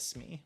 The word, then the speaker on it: Smee: Is Shmee an uncommon? I can't remember. I keep saying it like Shmee instead of Smee, but, you know, I think that's actually how you say it.